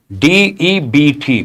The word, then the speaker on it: debt: D E Bt B is silent.